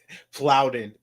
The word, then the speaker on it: Plowden: off it is plowed plowden PL l a little bit but it is plowed not power I didn't the wrong